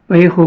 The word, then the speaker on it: Vallejo: It's pronounced Vallejo plastic putty.